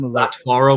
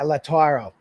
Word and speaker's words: Lautaro: They had a deal they thought accepted with Inter Milan for how do you pronounce his first name? Lautaro Martinez. Yeah, Lautaro.